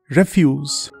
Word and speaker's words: refuse: But remember, when you use this word in this sense, it is pronounced as refuse.